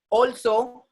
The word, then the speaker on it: also: So whenever A is coming with L, sound will become O in English. That's what? Also, all right, already, always.